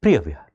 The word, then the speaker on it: Preah Vihear: Of course, there would be a particular local pronunciation also, but we are going with Preah Vihear.